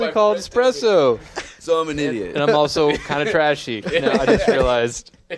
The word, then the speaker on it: espresso: you been saying yes why they call it expresso takes long to make and then my friend is like you know it's called espresso espresso I'm also kind of